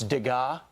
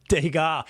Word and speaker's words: Degas: And one of the climate activists accused of smearing paint on the case protecting Degas' famous little dancer sculpture. And Will, you told me I mispronounced the artist's name. Yeah. It's Degas.